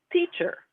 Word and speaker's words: teacher: So to say the T sound, your tongue hits the roof of your mouth, well, hits the back of your two front teeth.